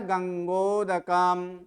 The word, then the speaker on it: गंगोदकम: देखिए इसमें म के उच्चारण आधा ही किए, क्योंकि म उसमें आधा लिखा है। गंगोदकम, गंगोदकम ऐसे नहीं बोल रहे हैं, गंगोदकम, क्योंकि इसमें म आधा है।